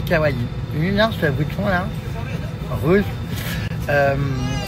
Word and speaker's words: kawaii: D'ailleurs, souvent les gens prononcent kawai mais on dit kawaii.